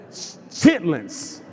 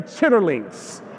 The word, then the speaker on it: chitlins: My dad, if you ever gone to any event at his house, they had pig's feet, chitlins. I know it's spelled like chitterlings, but never say chitterlings. Right? It's chitlins.